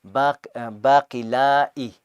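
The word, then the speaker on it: باقلّا: Baqilla, so the shadda on the lam, and then you stop it there. Baqilla or baqila'i, that's how you say it.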